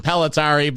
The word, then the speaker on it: Impellitteri: me three weeks to figure out how to pronounce it pelari but I'll never forget it now so that's